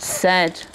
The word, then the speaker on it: said: And these two letters are making the eh sound in this word. But it's not spelt with an eh, is it? So it's one of our funny words that's not spelt the way it sounds.